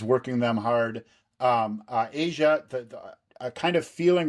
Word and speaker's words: Aja: from Black Cow to Asia, the the title track of the album. And this really is it's kind of interesting that Asia is spelled AJA, but this song is